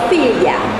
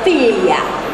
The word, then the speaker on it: Figlia: 我们的 Filia，其中 Gli 这三个字是念礼，像礼物的礼那样的发音。那事实上它的发音其实是很复杂，是礼物跟已经的已合起来的发音。